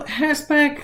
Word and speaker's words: Herzberg: favorite um motivational theories herzberg's two-factor theory please be careful when you're writing hetzberg's name that you spell it correctly there is no t in his name so herzberg as the name suggests